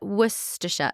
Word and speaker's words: Worcester: all the sh so I'm like there's glera wora harfa yeah but wora is how you say yeah okay werer great